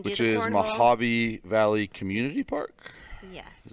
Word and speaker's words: Mojave: Mojave Valley Community Park.